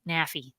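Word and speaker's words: NAAFI: a Navy brat, and rhymes with taffy. Oh, thank you, Andrew. That's great. Taffy, naffy, naffy, right?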